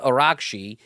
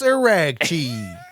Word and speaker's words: Araghchi: Abbas Araghchi. He's from man. I listen to the Tim Miller on the Bulwark sometimes, and he pronounced it Arashi. Arashi or Arachi. He said made it Italian.